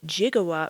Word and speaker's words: gigawatt: The power required is pronounced in the film as 1.21 21 gigawatt with the jigawatt referring to 1 billion watts.